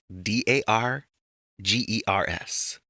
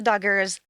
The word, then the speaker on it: Dargers: d a r g e r s Not the Doggers, the Dargers.